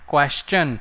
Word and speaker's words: question: Whenever the word is STION, the pronunciation will end in chan. Digestion, question, suggestion.